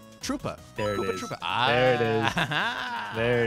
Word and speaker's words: Troopa: It rhymes. Koopa. Troopa.